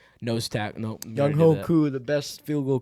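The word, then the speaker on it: Younghoe: Young Wei Koo, bro. Yeah. Why'd you say? Yeah. Is that not his name? Young Wei. It's spelled Young Ho. Oh, it's not pronounced like that.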